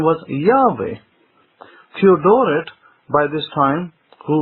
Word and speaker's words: Yahweh: all early Greek writers found the name to be pronounced as Yahweh, not Yehovah, at any point in history.